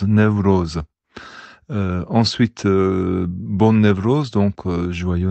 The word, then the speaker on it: Newroz: Donc la fête c'est Newroz. Dans toute la variété, ça se prononce Newroz.